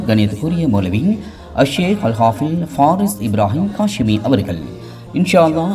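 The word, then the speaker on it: ف: இந்த ஃபா பல்லும் உதடும் சேர்ந்து இந்த எழுத்தை உச்சரிக்க வேண்டும். அதாவது மேல் முன் பற்களின் ஓரங்கள் கீழ் உதட்டின் ஈரப்பகுதியில் இலேசாக படும்போது வெளியாகும் எழுத்தாகும் இந்த ஃபா என்ற எழுத்து.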